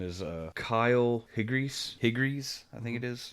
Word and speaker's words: Kyle Higgins: His name is Kyle Higgries, I think it is pronounced that way. Let me make sure that's how you pronounce it, so I'm not a huge D-bag. Kyle Higgins, written by Kyle Higgins and Ryan Parrott, and